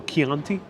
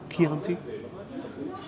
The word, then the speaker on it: Chianti: Wally says that CH is pronounced like a K. So Chianti? Chianti?